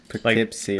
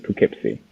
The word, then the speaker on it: Poughkeepsie: Because it's spelled to me. weird, too. Has, like, the Yeah, GH going on. Yeah, it's Sus. like, imagine like Po, like spelled, and then keep C. Like Keep.